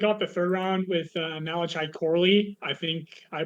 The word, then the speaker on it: Malachi Corley: The Jets kick off the third round with Malachi Corley. I think I pronounced that right. I really liked him. But I don't know. Malachi, yeah, it's Malachi Corley.